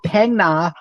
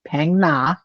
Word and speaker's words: Phang Na: So most people, when they talk about Southern Thailand, it's going to be Phang Na. Catch how I'm pronouncing it, Jeremy. Phang Na, and south.